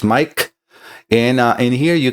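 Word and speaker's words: Maic: And yes, my name is spelled M A I C. Sounds Mike.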